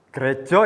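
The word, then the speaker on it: Greja: gw Regal ya benar Gereja Kristen Jawi Wetan grejo adik-adik bacanya bukan gereja atau gereja Kenapa begitu karena itu adalah ejaan bahasa Jawa dan gkjw adalah persekutuan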